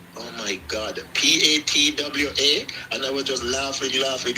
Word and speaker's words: patois: Jamaica, is patois, and you spell it Patois. In bracket you can then put Patwa, just to make the person know that yes, don't be confused with the way I wrote it. So it is patois, but it's a French word. So that's the pronunciation, as in the way people say it.